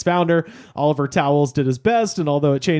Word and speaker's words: Towles: Spelled like the regular towels, Towels. It's Towles. Oh, Later to be founder of a junk shop where you can buy Dragon energy drink.